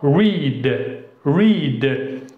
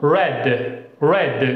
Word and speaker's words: read: إذن v1 نقرأها read read، v2 v3 تقرأ red red مثل اللون الأحمر red.